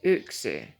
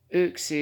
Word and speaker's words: yksi: it from like the first the first number ooxy ooxy is y k s i it looks like